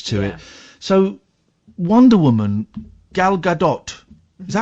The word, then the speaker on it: Gal Gadot: So, Wonder Woman, Gal Gadot, is that how you say it? Yeah, Gal Gadot.